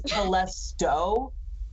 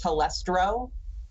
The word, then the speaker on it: Telesto: One of them is Telesto, but our buddy mispronounces it as Telestro, and so we have